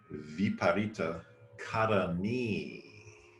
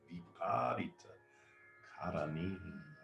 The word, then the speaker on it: Viparita Karani: This pose is known as Viparita Karani, a long E at the end, Karani, Viparita Karani.